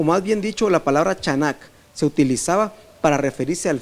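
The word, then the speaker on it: חנך: Se escribe así, C-H-A-N-A-C-H, chanak, como se escucha.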